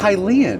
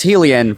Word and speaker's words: Hylian: It's unfortunately Hylian. I know. And I've been saying it wrong for my entire life. My brother said it he as Heelain one time and I decided to say that forever and no one ever corrected me on that until that video.